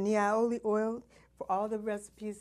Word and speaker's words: Niaouli: Like I said, Niaoli oil, for all the recipes that you see